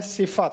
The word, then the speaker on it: صفت: स्वाद के नीचे जे लगा है, फे पर जबर है सिफत, तो इसको इसमें सिफत पढ़ना है।